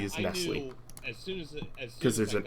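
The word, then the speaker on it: Nestlé: two very different things to me I say Nestle is Nestle because there's an accent on the fact I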